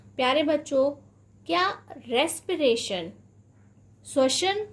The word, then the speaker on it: respiration: रेस्पिरेशन ही पढ़ रहे थे या आप इसे रेस्पायरेशन पढ़ रहे थे? तो आज के बाद आप इसे क्या पढ़ेंगे, यानी कि अभी से आप इसे क्या पढ़ेंगे? रेस्पिरेशन पढ़ेंगे, क्योंकि इसका जो सही प्रोनाउंसिएशन है वह क्या है? रेस्पिरेशन है।